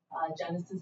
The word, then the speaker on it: Genasys: Genesis is spelled GENASYS.